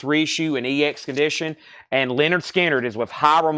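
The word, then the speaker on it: Lynyrd Skynyrd: 1980s Us Indianapolis REO and ex condition and Leonard skinnard is with hyro M Ponte for $50 pronounced Leonard skinnard pronounced Leonard skinnard and that's a final call on that one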